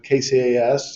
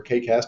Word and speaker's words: KCAS: uh the name uh kcas or kcast depending on how you wanted to uh pronounce that really came down